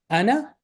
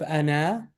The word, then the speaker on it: أنا: This alif with the zero should not be pronounced. So instead of ana, this is ana, just like we did last time. If you look at that video, that I had it right. Ana, it does not pronounce like this. It's pronounced ana, just very quickly. Okay, just two short syllables.